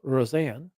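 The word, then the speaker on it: Rosén: of it there um that that e is pronounced AA so Rosanne and um yeah so isak Rosanne is a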